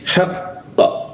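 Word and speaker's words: حقًّا: Jadi, haq kalau kita langsung baca haqqa itu menghilangkan tasdid seperti kita menghilangkan tasdid. Karena itu kita baca dulu tasdidnya, kita tahan haq ya, haqah itu kita pantulkan. Jadi bacanya haqqa.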